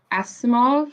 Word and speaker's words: Asimov: year i just read um foundation by isaac asimov yes yeah that's how you say it so